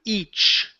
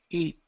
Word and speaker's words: each: Uh, let's try the word each. Okay, get that ch sound there. Each. It. It. Okay. So, you're very you're very close here. So, you're saying eat e l eat.